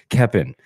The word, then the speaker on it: Keoppen: Welcome to the show, by the way, Keoppen. No L. Yeah. You said it right this time. Perfect. No L.